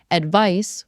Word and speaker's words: advice: Advice with a c has an s sound like ice.